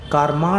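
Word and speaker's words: कार्मण: शरीर तेजस शरीर और कार्म शरीर कार्मा नहीं कार्म कुछ उधर उत्तरा पथ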